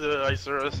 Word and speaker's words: Isurus: Do you know which way it's pronounced? I have no idea. I'm not... Isurus. It's Isurus.